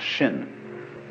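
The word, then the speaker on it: 心: In Chinese, mind is this word pronounced shin, and shin is here.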